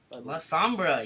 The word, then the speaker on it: La Sombra: La Sombra, yes.